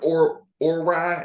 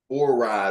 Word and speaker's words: Orei: Or rye, I think is the brand. I think that's how you say it. Say it again. Orei.